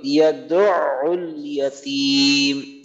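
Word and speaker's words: يدع اليتيم: হ্যাঁ, দুইবারই আইনে উচ্চারণ করতে হবে। দুইবারই আইন তো আমাদের, এর জন্য একটু এখানে একটু স্পেশাল নজর দিতে হবে। প্রথমে হলো দাল আইন পেশ দু, আইন লাম পেশ উল, ইয়াদউল ইয়াদউল ইয়াতীম।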